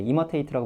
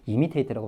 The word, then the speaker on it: imitate: imitate라고 발음하셔도 되고 imitate라고 발음하셔도 돼요.